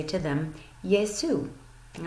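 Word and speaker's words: γεια σου: This is how you would spell it using the English alphabet, and it is pronounced Yesu. Yesu.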